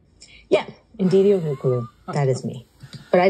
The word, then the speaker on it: Ndidi O: Her name is, and correct me because I've been trying to spell it properly or say it properly, it's Ndidi O. Yeah, Ndidi O.